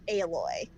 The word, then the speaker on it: Aloy: the name yeah no it's um aloy supposed to be like alloy like iron alloy or that's sort of like the reasoning behind her name but they pronounce it aloy ah because oh that's